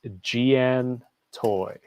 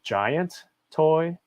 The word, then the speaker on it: Giantoy: from the website is Gian toy and it looks like it's spelled giant toy which could be a common mistake but it's uh giantoy I mean dude I